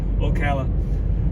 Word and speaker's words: Ocala: Sorry, I hardly ever pronounce that word. Ocala.